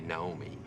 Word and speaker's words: Naomi: Um, a famous one is probably Naomi, right? In America. America, most people would probably say Naomi. Naomi. Naomi. Naomi. Okay. So, Naomi and Nomi, most Japanese or um people in Kushima Productions probably just pronounce it Naomi. Mhm. Uh, which is a very Japanese way of saying uh others like uh Right.